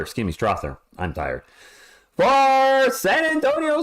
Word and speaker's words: Strawther: it's cut off little on the screen St strawther excuse me Strather I'm tired for San Antonio Spur who lost